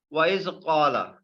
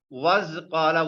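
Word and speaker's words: وَإِذْ قَالَ: Was qala, we cannot pronounce like this. We must have to pronounce this Hamza. This is separating this waw. This Hamza is separating this waw, so we must have to pronounce it.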